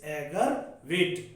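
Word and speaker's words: aggravate: आगरा वेट, एगर वेट, correct pronunciation is एगर वेट।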